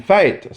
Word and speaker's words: fête: So you heard the way I pronounced that the old way. But since the softening, it has been fête.